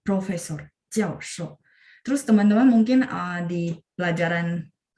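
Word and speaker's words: 教授: Jadi misalnya profesor, kita akan bacanya jiao shou. Dengan huruf Mandarin yang sama ya, jiao shou. Itu adalah profesor. Jiao shou. 4-4. Profesor. Jiao shou.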